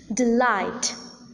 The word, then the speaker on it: delight: not accented for instance in the words like about deceive Delight the second syllable is accented the first syllable is unaccented unstressed hence we need to